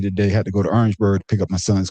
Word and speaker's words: Orangeburg: In South Carolina, we call it Orangeburg. Not Orange. Orangeburg.